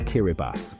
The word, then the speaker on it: Kiribati: Kiribati is pronounced Kiraibbas, a clue to its unique language and history. The TI is pronounced as S in the I Kiraabati language, a legacy of early European missionaries adapting the Roman alphabet.